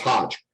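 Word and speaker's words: Hoge: who i understand i i think it's actually pronounced hodge but um you know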